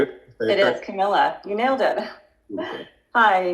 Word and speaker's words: Camilla: Camilla, is that how you say it? It is Camilla.